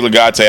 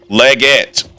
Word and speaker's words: Leggett: You said it wrong both times? Damn. Leggett. Oh.